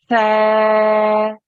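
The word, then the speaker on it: ث: Tha. Da. Okay, so we could practice on that, okay? But the sound is made in exactly the same way as if you're saying thank you, think, those sorts of things.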